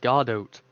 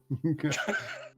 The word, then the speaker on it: Godot: It's obviously pronounced Godot. Godot.